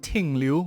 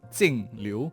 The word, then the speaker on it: Jingliu: a lot of comments asking me how to pronounce a name it's not tinglu with a T it's singl with a J so that's just a very